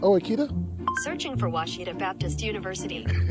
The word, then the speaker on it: Ouachita: Searching for Washita Baptist University. Back in Texas, everybody pronounces it Wichita, but really, it's Washita. Washita.